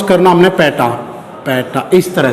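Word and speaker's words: peta: और इसको प्रोनाउंस करना हमने पैटा, पैटा इस तरह से।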